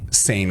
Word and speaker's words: Seine: It's pronounced Seine.